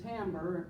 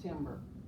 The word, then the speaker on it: timbre: And then timbre, it looks like it'd be pronounced timbre. It's timbre is the purity or the quality of the sound.